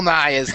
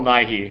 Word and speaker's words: Nye: Guy what other Bill NY is there yeah yeah come on for CH I didn't know if he was mispronouncing Bill nyi yeah it's Bill Bill Nye who's not the real